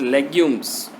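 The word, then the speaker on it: legumes: लेग्यूम्स, the pronunciation is लेग्यूम्स, any plant that has seeds in long pods.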